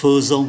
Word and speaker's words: faisons: Và chúng ta nhắc lại, ở đây đọc là phơ, nous faisons, thì trên này là je faisais, tu faisais, il faisait, nous faisions, vous faisiez, il faisait.